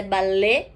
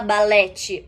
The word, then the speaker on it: ballet: Também não se fala balete ou balete, se fala ballet. Sim, então esse T mudo no final do francês também não se pronuncia, a mesma coisa do chá, que é o gato.